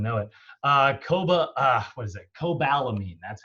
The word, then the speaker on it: cobalamin: Cobalamin, that's how you say it.